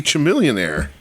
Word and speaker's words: Chamillionaire: It was supposed to be Chamillionaire.